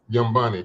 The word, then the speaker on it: Nyambi: Yumbani. Yumbani. God, man, I keep saying it wrong. Every time I say it wrong. Yumbani. Just act like the N is not there.